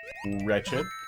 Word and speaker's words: wretched: There's still alliteration when the W is silent. Wendy's Wretched Watchtower. I think so, because you're... No, I think you're still making a W. Wretched.